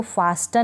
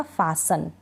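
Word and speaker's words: fasten: अब इसको फास्टन नहीं पढ़ा जाएगा, फासन।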